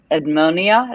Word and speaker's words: Edmonia: poem about her ed edmonia is that how you say her name lewis lewis yes yeah who weirdly wildfire